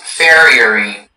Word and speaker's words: farriery: Your word is farriery. Farriery. Can I have all the information, please? Farriery is the only pronunciation.